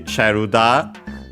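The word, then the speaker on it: シェルダー: And yeah, it's actually simply like in English, as you can see, Sharuda. So yeah, same of course. First and foremost, shell, clearly. Accented, by the way, on the first syllable as expected.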